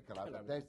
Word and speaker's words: Calabria: Calabria, yes, you say Calabria.